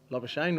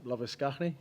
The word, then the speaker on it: Labuschagne: Is it Labuschagne or Labuschagne? I don't know, whichever one. I know it is Labuschagne, but I think it's Labuschagne over here.